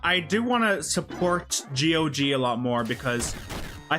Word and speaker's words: GOG: or Gog. I I'll call it Gogg.